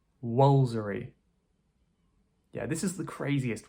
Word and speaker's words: Woolfardisworthy: This one is pronounced "Wolsery" Woolfardisworthy. Yeah, this is the craziest one perhaps right - Woolfardisworthy. We're just skipping out a lot of the middle part.